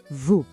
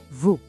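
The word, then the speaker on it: vous: E claro, o S também é mudo. Escuta Vu. Mais uma vez, Vu.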